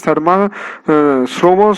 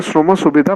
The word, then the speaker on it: শ্রম সুবিধা: কি এই পোর্টালটার নাম, শর্মা শ্রম সুবিধা পোর্টাল, সরি আমার বলতে উচ্চারণটা করতে ভুলেছে, সেটা হচ্ছে যে শ্রম সুবিধা পোর্টাল।